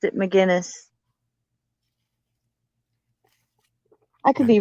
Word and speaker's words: McGinnis: the woman dope Magnus McGinnis McGinnis but he spells it out for us phonetically Mac genus gen jind g-i-n yeah but good McGinnis